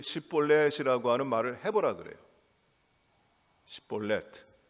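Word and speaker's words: שיבולת: 시볼렛, 히브리 말에 그 철자가 다 자음으로 되어 있는데 신이라는 말하고 사멕이라는 그 철자가 있어요. 근데 우리말로는 다 시옷으로 쓰는데 하나는 강한 발음이고 하나는 약한 발음입니다.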